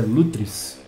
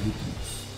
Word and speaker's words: Lutris: Aliás, é Lutris. Eu estou pronunciando errado o nome, não sei de onde tirou esse Lutris.